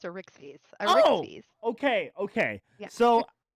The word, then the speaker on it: Arixphes: It's pronounced Arixphes.